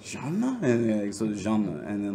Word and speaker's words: Jean: It's like he's like, no, Jean. And I was like, Jean? And so Jean.